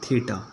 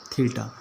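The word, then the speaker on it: theta: ये जो मैंने लिखा है इसको मतलब प्रोनाउंस करते हैं थीटा, है ना, थीटा।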